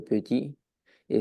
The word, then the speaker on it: petite: Tu as fait trois petites erreurs de prononciation, donc c'est très bien parce que tout le reste, ça allait.